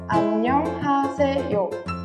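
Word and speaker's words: 안녕하세요: Hola es annyeonghaseyo.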